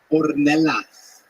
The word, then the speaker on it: Ornelas: Jose, how do you say that last name? Ornelas. Ornelas.